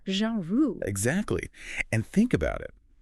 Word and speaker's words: genre: the pronunciation it's not jinru it's Jean Ru almost like Jean Ru but with a softer Z at the beginning like in measure Jean Ru exactly and think about